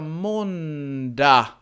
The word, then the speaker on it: måndag: Så vi har måndag. Och här uttalar vi inte g. Vi får en reduktion. Vi uttalar inte, vi säger måndag.